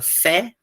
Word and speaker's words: fé: Então, essa palavra, a diferença entre, ó, a palavra fé, que é aberta, a palavra três, que é fechado.